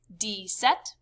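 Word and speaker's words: dix-sept: they kind of do it in reverse in french they say 10 7 10 eight ten nine pronounced like this d set d sweet dis nuff and the number for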